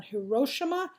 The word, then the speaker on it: Hiroshima: to know the atomic bomb has dropped on Hiroshima and Nagasaki that's how you pronounce those two names you must know them